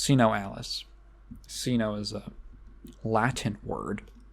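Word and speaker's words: SINoALICE: or Sino Alice as as it should be pronounced see no Alice casino is a Latin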